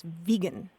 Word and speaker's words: vegan: of it and he insisted that the correct pronunciation was vegan oh really not vegan vegan or vegan although